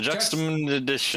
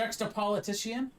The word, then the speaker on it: juxtaposition: Though Leodel pronounces that word completely wrong. It's a juxtaposition. Juxtapolitician?